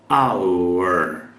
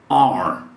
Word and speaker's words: our: como acabei de pronunciar our our ou simplesmente e você vai ouvir muito isso quando nativos falam rapidamente você vai ouvir are Are our new secretary